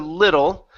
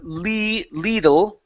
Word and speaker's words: little: Let's come back to little instead of Lidl with a long e sound. Use a short I.